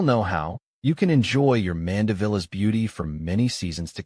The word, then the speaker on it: Mandevilla: Think about the vile in the middle. That's where the emphasis is. Listen to online pronunciations or watch videos of people saying mandilla to get the sound just right.